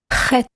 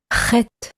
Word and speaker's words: Chet: Z, as in whiz, Chet, Chet, just like when clearing out your throat.